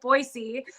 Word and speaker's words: Boise: Boise.